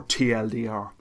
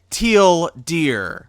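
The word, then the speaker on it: TL;DR: __ ] posting or te dear okay one it's pronounced teal deer and he says citation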